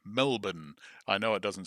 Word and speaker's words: Melbourne: Beach near Portzy in Melbourne, which is the Australian pronunciation. Melbourne. I know it doesn't sound right to most foreigners, but uh that's how it's said. Melbourne.